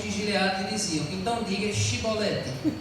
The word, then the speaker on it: chibolete: Aí, se respondesse que não, os homens de Gileados diziam: "Então diga chibolete". Diga cibolete. Se ele dizia cibolete, não podendo pronunciar corretamente a palavra, então eles recebiam um abraço e um aperto de mão.